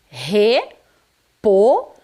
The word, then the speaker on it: repolho: Repolho. Olha como que ficou a pronúncia da primeira sílaba. Re, bem forte, né? A letra R está no início, então é forte.